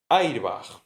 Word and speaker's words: airbag: Airbag se escribe como en inglés y se pronuncia como si fuera una palabra española.